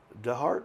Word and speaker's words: DeHart: And with that, welcome our guest, Jake DeHart.